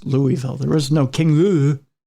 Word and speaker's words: Louisville: interrupt me with it it's Louisville it's Louisville I got you